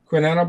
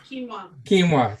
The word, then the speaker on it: quinoa: Quinetta ball with chocolate, peanut butter, and CBD. Quinoa.